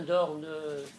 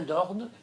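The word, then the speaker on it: Dornes: Lisez Martin Dorn, Psychanalyse et psychologie du premier âge.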